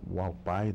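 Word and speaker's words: Hualapai: Okay, the tribe's name is pronounced Wallapai.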